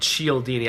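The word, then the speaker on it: Cialdini: Uh, Robert Chelini, I believe his last name is spelled C I A L D I N I.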